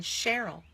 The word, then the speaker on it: Cheryl: the Greek influence and it can say Shh as in Cheryl that's the French influence so which of those